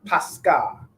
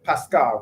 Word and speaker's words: Pascha: It's pronounced what? Pascha, right? Pascha, right?